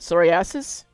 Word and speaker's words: psoriasis: Still, verse 27, eczema, atopic dermatitis, I think the P is silent, psoriasis, tinea corpus, ringworm, crusted scabs, secondary crusting of scabies, that word, dermatitis, and that word, rosacea.